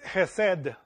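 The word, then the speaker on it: חסד: Mercy is chesed. This is how you say it in Hebrew. Chesed.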